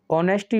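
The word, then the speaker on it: honesty: देना है देखिए आगे ऑनेस्टी ऑफ राम कैन नॉट be doubted इसे नेस्टी नहीं पढ़ेंगे साइलेंट रहता है तो ऑनेस्टी यानी राम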